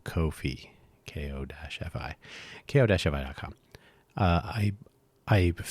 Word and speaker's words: Ko-fi: I'm sure they pronounce it coffee, but just want to be clear that it's Ko Kofi.